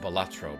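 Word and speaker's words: Balatro: It's pronounced Batro, by the way.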